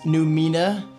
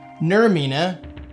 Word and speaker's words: Nurmina: So guys, first impressions of these new Mina new Mina, did I say it right? Nur Mina. There's an R in there.